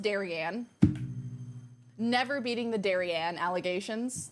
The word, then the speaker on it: Darian: raided last night oh yeah it's pronounced darianne never beating the Daran